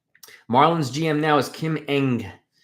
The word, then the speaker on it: Ng: gm now is kim eng her last name is ng it's pronounced eng and uh she was